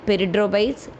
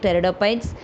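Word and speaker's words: Pteridophytes: terites don't read like perres the p is silent here so you should pronounce like terites terites is a seedless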